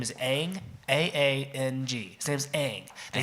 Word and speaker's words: Aang: Everybody pronounces it Aang in the TV show. You know what they say in the movie? Ong. Ong. And not just like once or twice, or like one character says it It's wrong. not one guy who Every says person, Ong.